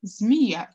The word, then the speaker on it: змея: и третий вариант змея мы пишем змея через ей оговорим змея через и значит третий вариант нам